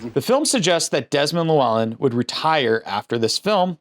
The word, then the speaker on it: Llewellyn: I said something and you were like, that's not how you say his name. It's Desmond Llewellyn. Get it right.